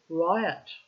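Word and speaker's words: ryot: peasant or tenant farmer Riot Riot sounds like the word Riot see how I wanted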